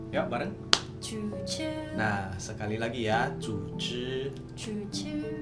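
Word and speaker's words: 组织: Guys, organisasi di dalam Mandarin kita bacanya itu zuzi. Ya, bareng. Zuzi.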